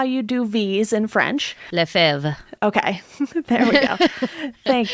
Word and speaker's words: Lefevre: Lefebvre. Okay. There we go. Thank you. A French pronunciation that Americans can't speak.